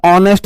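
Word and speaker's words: honest: pronunciation होना चाहिए Wavell ऑनेस्ट को मैं ऑनेस्ट ए बोलना हूं ऑनेस्ट नहीं बोलते हा इसमें साइलेंट है तो प्रनंसीएशन ए का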